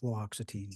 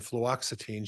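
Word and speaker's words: fluoxetine: flutin I have difficulty with that as well fluoxitine fluoxitine thank you yes I'll say it wrong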